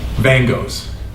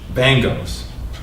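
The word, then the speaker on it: Van Gogh's: Van Goghs, Tuesday night in the week of the Buddha's enlightenment, for Paul Limburg. Snow falls. Stress the first syllable, not like Vincent van Gogh, but Van Goghs.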